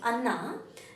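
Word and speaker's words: ಅನ್ನ: when you say very when the tongue tip will touch your teeth Anna that is cooked rice that is not a brother so be very careful when you pronounce Anna okay Anna mostly we converse with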